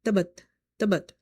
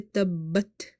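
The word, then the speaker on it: تَبَّتْ: If somebody read tabat, it means that ba is once. but here ba is twice. So in order to pay the full haq of this word, you have to emphasize, you have to say tabbat yada.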